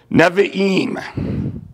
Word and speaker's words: Nevi'im: The next section would be called, and again, I believe I'm pronouncing it at least close to it, Nevi'im. Nevi'im. So N-E-V-I apostrophe I-M.